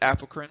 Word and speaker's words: apocrine: We have eccrine sweat glands, and then we have apocrine. Some people pronounce it apocrine, not incorrect. You can say it either way.